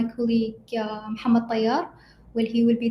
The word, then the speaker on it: Muhammad: No, the correct pronunciation is Muhammad only, but probably Okay. it's with their accent or something. It sounds like Muhammad. I mean, they speak fast probably, but in Yeah. general, it is Muhammad.